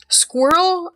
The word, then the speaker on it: squirrel: But the way you're supposed to read it is one syllable.